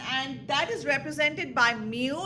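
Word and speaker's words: μ: find the mean and that is represented by mu it's a Greek uh letter mu which is pronounced of course like me w mu ink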